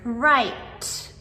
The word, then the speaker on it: write: And finally, number 10, the silent W letter. So, in words like wrist or write or wrong. All of these words start with a W and R together.